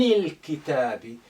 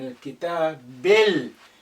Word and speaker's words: الكتاب: عن الكتاب. Again, this alif is silent because it's not at the beginning. The lam retains its sukun because the kaf is a moon letter. It's not a sun letter.